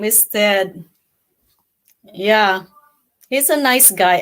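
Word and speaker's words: Thad: Tad. Todd. But actually it's spel it's pronounced Ted.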